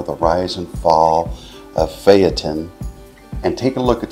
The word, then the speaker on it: Phaeton: give you a little background on ftin also pronounced Fon by some myself included but the correct pronunciation is ftin I believe in Greek mythology ftin was the